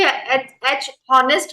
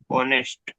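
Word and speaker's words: honest: कि हर साइलेंट है हम इसे भी एच नेस्ट बोलते हैं कि ऑनेस्ट बोलते हैं एम एच साइलेंट रहेगा एच साइलेंट रहेगा तो इसको कैसे प्रोनाउंस करेंगे हम ऑनेस्ट ऑनेस्ट तो क्या हो जाए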